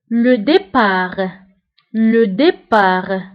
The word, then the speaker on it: départ: الانطلاق le départ ضده الوصول أو l'arrivée. donc الانطلاق هو le départ ونسبه بالنسبة le départ كنكتبوها بالت في آخر الكلمة ولكن لا ننطقها.